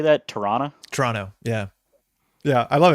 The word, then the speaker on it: Toronto: to get away but don't say the last t on toronto and then you blend right in local secret cool so how do you say that toronto toronto yeah yeah i